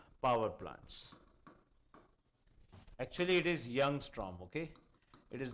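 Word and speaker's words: Ljungström: Actually, it is Youngstrom, okay? It is not L. Ljungstrom. It's a German name, and Germans pronounce LJU as Y.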